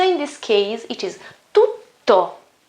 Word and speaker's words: tutto: It's not tu, it's tu. So we have first T and then a double T. As we said last time in my previous video, in my first video, talking about pronunciation, when I have a double consonant, the sound is longer, okay? Almost twice, okay? Twice the normal sound of a single consonant.